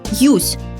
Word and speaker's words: юзь: Но если с мягким знаком и при чуть мягком произношении «юсь».